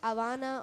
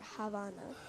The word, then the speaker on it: Havana: Do you pronounce the H when you say it? Yeah, Like, a lot of people don't, and a lot of people do. It's like confusing, like Havana or Havana.